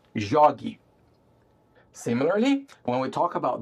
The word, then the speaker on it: jogue: And then when we add the e, we have to keep the same hard G sound. In order to do that in writing, we spell that with a G U e. Jogue.